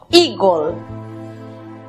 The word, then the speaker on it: eagle: La primera sílaba, recordemos que la combinación de las vocales EA se pronuncia I. La siguiente sílaba está compuesta por E muda, precedida de L y otra consonante. Matizamos con O, gol, eagle.